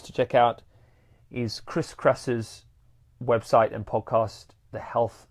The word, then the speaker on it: Kresser: Kresser is with a KRESSER, Kresser, like that.